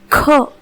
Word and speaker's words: ख: इसी क को जब मैं महाप्राण में उच्चारित करूंगी तो यह बन जाएगा ख। आप यहाँ पे देख सकते हैं कि इस वर्ण का सही उच्चारण कैसे किया जाता है। और यहाँ पर भी आपको वो टिप फॉलो करनी है कि सभी महाप्राण वर्णों का उच्चारण कपालभाति प्राणायाम की तरह होता है।